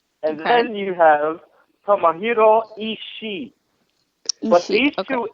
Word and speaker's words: Ishii: Access show call them Ishii. It's Ishii. You don't need the third Ishii. syllable. Ishii. Okay. No third It's syllable. not Ishii.